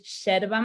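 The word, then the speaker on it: yerba: drink the herb is cherva mate it's spelled with a y and in argentina we say the y is like an sh so cherva mate can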